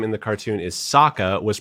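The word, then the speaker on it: Sokka: Jackson Rathbone whose name in the cartoon is Saka was pronounced Soka Uncle iro was pronounced iro Agni Kai became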